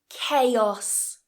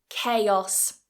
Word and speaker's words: chaos: h it's a k chaos chaos so watch for that CH it is a K in this word and those vowels chaos